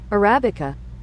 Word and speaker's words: Arabica: world is absolutely addicted to and it is Arabica Arabica are coffee beans connected to Arabia where